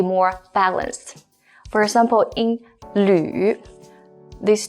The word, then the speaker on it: 吕: This one, first of all, is pronounced as 吕.